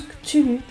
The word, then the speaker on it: Cthulhu: Oui, il se prononce Cthulhu. Cthulhu.